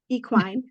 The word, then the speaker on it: equine: She taught me this word, equine.